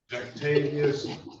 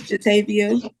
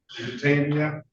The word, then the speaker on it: Jatavia: Octavius. Yes, Good morning to you. Did I get the pronunciation of your first name correct? it's Jatavia. Jatavia?